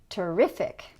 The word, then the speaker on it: terrific: look at the suffix and we're going to put the stress on the syllable before. Terrific.